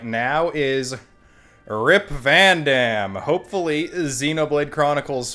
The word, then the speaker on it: Vandham: difference in pronunciation whereas in xenoblade chronicles the numbered games it is pronounced van damme while xenoblade chronicles x's